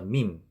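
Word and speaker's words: ميم: 그런데 이런 식으로 표기를 하면 되고, 요 밈은 양 입술을 사용해서 내는 소리입니다. 밈 이런 식으로요. 그래서 밈은 영어의 M과 발음 기호를 M으로 표기를 합니다.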